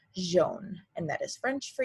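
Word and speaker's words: jaune: jean so in french whenever you see a j it isn't going to be like j like it is in english it's going to be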